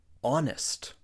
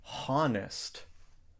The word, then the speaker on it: honest: the B is silent honest we don't say honest because the H is silent we say honest aest so when you're